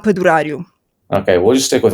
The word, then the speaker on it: Padurariu: Normally, it's pronounced Padaru.